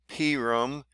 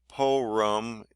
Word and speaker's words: Purim: You can pronounce this name many ways. In Eastern tradition, it is called Purim. I'm trying to say it as they are. Among Westerns, it is also called Purim. Some Central European communities even call it Pirum, calling this holiday Porum, as English speakers are sometimes want to do. Is a surefire newbie.